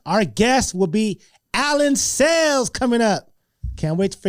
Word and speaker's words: Sales: We say his name wrong, his last name wrong. Ladies and gentlemen, I'm going have him pronounce his name right. We call him Allan Cells.